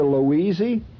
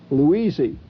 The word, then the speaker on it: Louisey: You mean you don't remember Louisey? That's the hillbilly way of pronouncing Louise. Louisey.